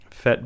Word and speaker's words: PhET: you'll get to fet.colorado.edu fet being spelled p-h-e-t and we can go